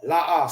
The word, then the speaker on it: La'ah: Now for this, it's pronounced separate. La, and ah.